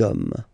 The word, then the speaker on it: hommes: You don't pronounce it, so you get des hommes, des hommes, des hommes.